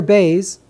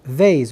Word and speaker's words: Beis: The letter Beis can be pronounced as Beis, like a B, and it can be pronounced as Vez, which is a V. So Beis is the harsh pronunciation, and Vez is the light pronunciation.